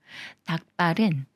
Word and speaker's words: 닭발: 되면서 북부로 읽는다고 했었죠 닭발은 닭의 발로 닭이 꾸며 주는 말이고 리을 기억 받침 중에 리은 생각 말고 기억과 비읍이라 거라서 비읍 쌍비읍 소리로 읽어요 닭발 닭발 기억 받침이 시옷 만나면